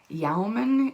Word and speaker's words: Yemen: so our next slide yemen yaomin is also how you may pronounce it but i i heard yemen to begin with and that's what i've always said so all right our